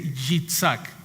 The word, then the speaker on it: Yitzhak: Y en el hebreo se dice Yitzhak, con Y-I-T-Z-H-A-K.